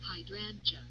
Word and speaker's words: hydrangea: Hydrangea or hydrangea. Mhm. No, I think it's hydrangea. I think that's how most people would say that, hydrangea. Two ways to pronounce it.